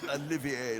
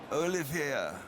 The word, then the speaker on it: Olivier: Olivier is not Olivier like Lawrence, but he's Olivier.